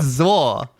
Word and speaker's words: ZAW: No, it's a game called Zor.